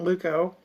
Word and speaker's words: leuko: discoloration of the skin the next word Luke le UK with a combining vowel Luke oh combining Valvo pronounce Luke o means white an example would be